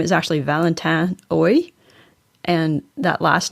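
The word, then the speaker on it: Haüy: So this next part, there's a tricky French name, and I'm going to Americanize the pronunciation. The guy's name is actually Valentin Hauy, and that last name is spelled H-A-U-Y.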